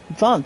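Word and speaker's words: Jon: I've got Kevin, Sorny, and also, John, too. Instead of J-O-H-N, guys, but it's pronounced as John. J-O-H-N. I mean, J-O-N, excuse me.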